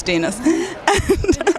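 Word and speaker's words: Denis: guy who's denas like you pronounce it like penis denus that was like a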